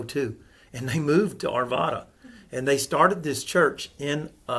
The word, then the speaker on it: Arvada: I think it's Arvada is how it's pronounced, Arvada.